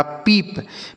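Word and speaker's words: peep: तो पी से पढ़ते हैं प और डबल ई का उच्चारण बड़ी ई की मात्रा पी से प ये लिखा पीप। पीप मतलब क्या होता है?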